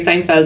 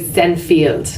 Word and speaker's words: Seinfeld: and he interviewed Jerry Seinfeld and was like couldn't pronounce his name right and this is like in theory you know yeah you said like I think he said like thin field right and it was